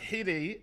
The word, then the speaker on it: Hidde: Chuck, Hide is pronounced hidden without the N.